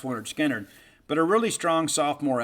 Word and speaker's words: Lynyrd Skynyrd: I think in many respects kind of overshadowed because of all the hits that came on pronounced Lynyrd Skynyrd.